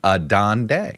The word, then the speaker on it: Adande: Jay like me he's got two D's in his last name. Adande.